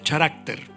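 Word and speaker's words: χαρακτήρ: Deriva de una palabra griega que se pronuncia charácter, que significa cortar en surcos o grabar sobre una superficie.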